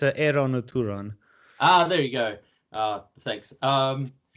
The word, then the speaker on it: Eran ud Turan: No one knows how to pronounce it. It's Eran or Turan.